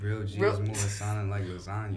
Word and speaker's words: lasagna: foot and he's like lasagna but why was that like that line is so like because the g is silent I didn't know that